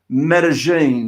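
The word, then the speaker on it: Medellín: I can actually I think I can actually pronounce meta-gene did I say that correctly you did indeed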